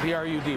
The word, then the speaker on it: Brud: B-R-U-D, Brud. Sorry about the mispronunciation.